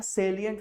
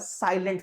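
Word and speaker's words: salient: पे लिखा रहता है सेलियंट फीचर अक्सर लोग इसको पहले मैंने सुना हुआ है साइलेंट फीचर पढ़ते थे व्हाटएवर दैट मींस ठीक है तो सेलियिंट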